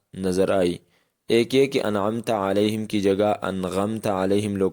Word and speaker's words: أنعمت عليهم: والی غلطیاں۔ معزز دوستو، انعمت علیہم کا درست تلفظ یہی ہے جو آپ نے سنا، یعنی انعمت علیہم، اور اس درست تلفظ